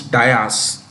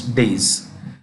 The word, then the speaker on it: dais: There is this pronunciation of a word that most people get incorrect. We often say raised platform is dais. It is days.